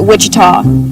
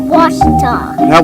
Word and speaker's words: Ouachita: for wasita Baptist University back in Texas everybody pronounces it Witchita but really it's was was was how would you pronounce it was it's was Baptist